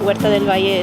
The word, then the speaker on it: Huerta del Valle: my position at Huerta del Valle is as an urban farmer.